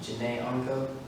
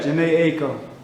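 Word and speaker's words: Jhené Aiko: I hope I'm not pronouncing this wrong, but is it Janae Unko? Yeah, Janae Aiko.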